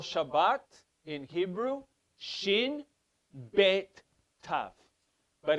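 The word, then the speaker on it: שבת: the middle of it what is a word that has a beta in it s h a b b a t a word related to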